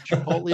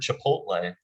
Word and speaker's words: chipotle: talk about the word chipotle nahuatl name for smoked dried jalapeno it's t and l so tempting to transpose that some believe nick nolte is its rhyme maybe your dad pronounces